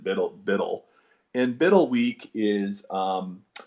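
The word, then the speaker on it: BUIDL: They pronounce it Biddle.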